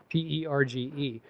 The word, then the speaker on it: perge: um spells a word that sounds like Purge p e r g e but it's actually pronounced perge oh and it's a verb and